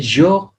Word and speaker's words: jours: तो jour day s लगा देंगे then also you will read the same jour jour but in written you will write the s but it will not pronounce in speaking.